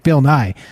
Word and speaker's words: Bill Nye: Bill Nye. It rhymes with science guy.